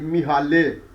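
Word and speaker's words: Mihály: of a name is m i h a l y mihale and is its publisher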